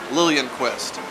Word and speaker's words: Liljanquist: Anna Laureen Lillianquist, spelled Liljanquist, but pronounced Lillianquist.